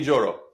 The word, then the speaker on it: Yoro: we go for Lenny yoro you to pronounce joro Lenny joro awesome cannot wait so